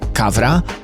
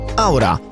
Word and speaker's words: Qawra: I tutaj ważna sprawa, choć po polsku naturalnie chcielibyśmy powiedzieć Kavra, to prawidłowa wymowa nazwy tej dzielnicy oraz hotelu to Aura.